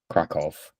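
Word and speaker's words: Kraków: You have to go to Crackow. Crack off as the locals say.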